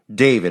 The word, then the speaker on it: D4VD: D4VD is how he spells his name, but it's pronounced David.